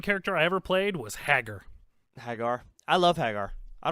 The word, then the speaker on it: Hagar: I don't get it you call him Hagar Hagar it's just haggar mike mike is a hag are you said hag are whatever Hagar the Viking king see to me c2e